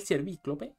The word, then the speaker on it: Ciervíclope: Sí, después del Ciervíclope, sí, con acento en la I, por si acaso, para el que le interese, iríamos contra Skeletron.